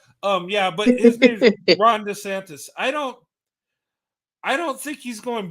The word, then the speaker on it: DeSantis: Brent, can I do a shout out to Deandis? What's his name in Florida? Deandis? How do you pronounce his last name?